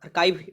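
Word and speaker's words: archive: हैं, records आर kept, उसे बोला जाता है आर्किव। आर्चिव बोला जाता है, जहाँ पर अब अर्काइव भी इसे बोला जाता है। ठीक, तो जैसे भी उच्चारण कीजिए अर्काइव।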